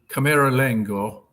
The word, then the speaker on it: camerlengo: the Italian term is Camerlengo. boy, say that 5 times fast. Camerlengo. I know I'm not pronouncing it correctly with an Italian inflection. I'm sure it's Camerlengo. There you go.